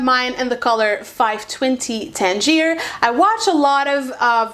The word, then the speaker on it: Tangier: was, and also didn't really know how to pronounce it. I know very well because I was actually born in Tangier.